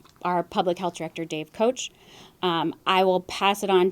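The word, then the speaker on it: Koch: Kelly as Kelly said my name is Dave coach last name is spelled k och direktor Johnson County Public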